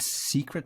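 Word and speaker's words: Sekret: Yeah, the K it's a long story, but yeah, it's secret, just the way it would normally be pronounced.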